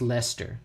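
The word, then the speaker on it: Leicester: It's like it just reminds me of Lancaster pronounced Lester.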